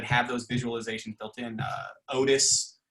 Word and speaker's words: Otus: Otis is one, OTUS is how it's spelled.